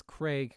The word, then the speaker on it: Craig: Craig, yeah. Like, rhymes with Greg. Craig and Craig... Well, Craig. I say Craig. Craig... So it is... Yeah, we'll get used to it. So I say Craig. It's not, it doesn't rhyme with Greg.